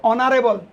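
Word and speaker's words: honourable: এখানে দেখো অনারেবল, আমরা জানি এইচ কনসোনেন্ট অক্ষর, এইচ হচ্ছে একটি কনসোনেন্ট অক্ষর। সেই কনসোনেন্ট অক্ষরের এইচের উচ্চারণ যদি ভাওয়ালের মতো হয় এবং এইচের উচ্চারণটা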